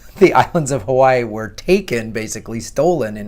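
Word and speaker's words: Hawaiʻi: the mainland pronounce it Hawaii that's my Midwestern accent gone Hawaii but there's two eyes so it's Hawaii do you want to get real technical the W's is Hawaii it's pronounced with a V so I've learned this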